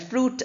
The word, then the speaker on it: fruit: Like suit and fruit are similar sounds, but E sound is not there. Then we have parliament. Parliament. That form is not there.